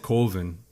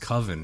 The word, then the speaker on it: coven: it's pronounced it's pronounced coven right he was no way to do it that sounds too close to oven just like the this